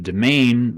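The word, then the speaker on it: demesne: And the domain, which is spelled like demence, but the domain is the area around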